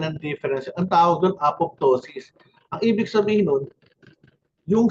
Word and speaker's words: apoptosis: Uulitin ko ha nung bata ako, apotosis silent Pong later alam ko pala apoptosis this is program cell